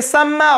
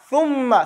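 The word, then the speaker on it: ثُمَّ: If your tongue ain't sticking out your teeth, you ain't say it right. You say summa or summa, that's your tongue is behind your two buck teeth, hitting on the middle piece. But if you stick your tongue out, thumma, say it.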